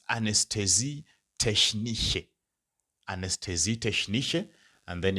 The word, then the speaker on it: Anästhesie: Now you can see there's an umlaut there. Now becomes ane. Anes, and then tesi. So that is anesthesie technische. So if it's a female, it's anesthesie technische.